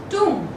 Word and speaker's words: tomb: It goes tomb. How does it go? It goes tomb. Okay, so over here also B is silent.